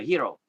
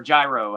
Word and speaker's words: gyro: It's kind of like a hero or gyro, how some Americans say it.